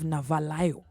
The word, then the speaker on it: Navalayo: We're going to have Navalayo.